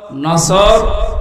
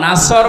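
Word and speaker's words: نصر: অনেকে পড়ে নুন সোয়াদ নাসর মানে সাহায্য আর নুন সিন নাসর মানে ইগল পাখি এজন্য তেলাওয়াত যখন করবেন উচ্চারণটা মুখ গোল করা লাগে আল্লাহ পাক জানিয়েছেন যখন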